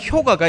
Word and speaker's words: 효과: 의미로 받아들인이는 그들에게 나타나는 효과가 있습니다 그래서 예전에는 한동안 국어 뭐 이거 하면서 효과 읽어야 된데 이제는 효과라고 읽어도 된다고 하죠 자장면도 마찬가지입니다 그죠 사람들이